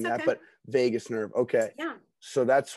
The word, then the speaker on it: vagus: the brain are connected through the vagus nerve am i correct vegas yeah okay i always have a hard time pronouncing that but vagus nerve okay yeah so